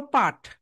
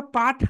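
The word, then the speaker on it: put: সো এটাকে আমরা পাঠ বলি না কেন? এটাকে আমরা পাঠ না বলার প্রধান কারণ হচ্ছে, আমরা সাউন্ড দিয়ে প্রোনাউন্সিয়েশন করি। যখন তুমি এটাকে লেটার দিয়ে প্রোনাউন্সিয়েশন করতে যাবে, তখন কি হবে? তখন এখানে পাঠ হওয়ার কথা ছিল, পিইউটি, পাঠ, পাঠ হওয়ার কথা ছিল, কিন্তু এটা পাঠ না হয়ে পুট হয়েছে।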